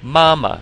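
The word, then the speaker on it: 妈妈: So you know how to say ma already, so let's practice saying the word mama, first tone.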